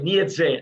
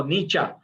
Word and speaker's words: Nietzsche: So it's pronounced Nietzsche. Some people say Nietzsche. No, Nietzsche. That's the correct pronunciation.